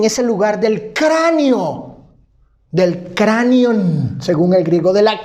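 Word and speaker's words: κρανίον: La palabra Calvario proviene de una palabra griega que se pronuncia como cranion, de donde ha derivado en el castellano, ¿qué cosa?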